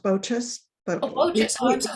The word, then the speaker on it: Boches: um and um the last name is pronounced bochus but oh just i'm so sorry that's fine